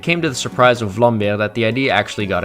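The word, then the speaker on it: Vlambeer: Released in 2011 by developer Vlair, and yes, that's how you pronounce it. It's Dutch, Sirius Sam the Random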